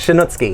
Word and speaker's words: Shanutski: Shanutski. Shanutski. Yes. Am I pronouncing it right? You are correct, Shanutski.